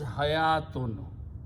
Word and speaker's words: hayatun: Then the second word is hayatun, which is written this way. Ha, ya, and tun. This waw is not pronounced. Hayatun means life.